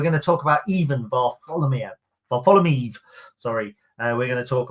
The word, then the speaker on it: Varfolomeev: I was told how to pronounce it. Ivan Varfolomeev.